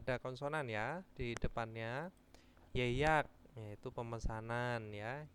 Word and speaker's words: 예약: Yeyak yaitu pemesanan ya. Yeyak itu tetap diucapkan ye ya.